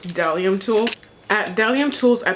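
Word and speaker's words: bdellium: tools um booth and it's spelled b d e l l i u m but the B is silent so it's delium tool at delium tools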